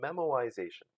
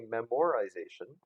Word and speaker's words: memoization: approaches is to make use of something called memoization so that I didn't mispronounce it and I did not miss type it it's not I didn't mean to say memorization I did mean to say memorization and basically